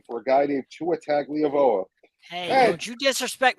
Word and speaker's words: Tagovailoa: you mispronounced his last name. I think you mean Tua You, sir, are out of Tagovailoa.